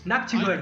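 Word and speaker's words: Nachtigal: Nashtigol. We say. How do you say? That's a good question. Nashtigol? No? Noctigal? Nactigol.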